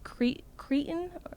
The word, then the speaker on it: cretin: Apparently, we pronounce it cretin. Yeah. Cretin. Yeah. But I always thought it was cretin because that's how he would say it.